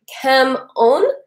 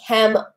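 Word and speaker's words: cảm ơn: right so for example thank you and Vietnamese is come on and I thought they was saying hem oh and so I said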